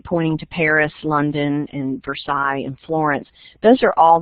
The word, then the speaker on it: Versailles: So the sign on the right pointing to Paris, London, and Versailles, and Florence, those are all the names of little towns and cities in Kentucky. So, and we don't pronounce it Versailles, it's Versailles.